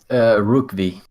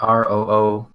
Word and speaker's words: Rookvi: Rookvi. Like Rookvi. R. Yeah, like you pronounce it Roovik, I guess. No, wait. Rook. VI. R-O-K. Yeah, Rookvi.